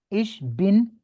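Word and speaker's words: ich bin: आता हो तो मतलब इश बिन ठीक है जिस तरह वो कहते है उसामा बिन लान वो बिन वो वाला ठीक है बिन जी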